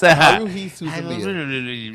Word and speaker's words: Haruhi Suzumiya: Marika, how do you pronounce this? Yes. Haruhi Suzumiya.